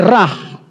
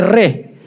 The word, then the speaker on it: Ra: Ras sering diucapkan sebagai rah, tetapi lebih tepat sebagai reh adalah Mesir kuno dewa matahari.